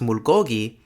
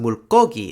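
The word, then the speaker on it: 물고기: So while the word for fish looks like it's pronounced mulgogi, since it's a compound word, it's pronounced mulgogi instead.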